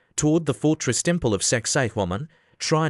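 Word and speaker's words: Sacsayhuamán: You hike a little higher, toward the fortress temple of Sexay Woman. Try not to giggle at the name, pronounce it right, and it sounds like sexy woman, which is ironic because the place is built like a linebacker.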